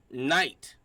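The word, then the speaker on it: knight: And why is there a silent K in front of night?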